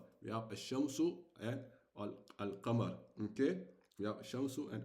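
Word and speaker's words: القمر: As for the al-qamar, as for the letter, the lunar letter, you will pronounce the al. So if we have a waw in front of the al, we will jump the we will jump we will not pronounce the alif, and we'll go directly where we go directly to al, and we pronounce only the al, okay? But if obviously we don't have the wow, we'll say al qamar.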